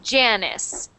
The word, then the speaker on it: Janice: And we normally pronounce this name like Janice. Janice. Ja. Like this.